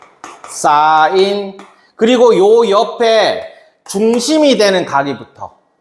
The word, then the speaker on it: sin: 자, 그러면 지금 직각삼각형에서의 저 삼각비는 종류가 뭐 뭐 있냐면 SIN 이거를 우린 사인이라고 읽어. 사인 그리고요 옆에 중심이 되는 각이부터 a를 기준으로 사인.